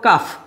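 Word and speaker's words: calf: Similarly দেখো কাফ এই এল এর উচ্চারণটা হচ্ছে না।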